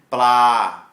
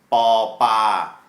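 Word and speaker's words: ปลา: Blah is fish. I like to transliterate this as a BP, which denotes a hard B sound.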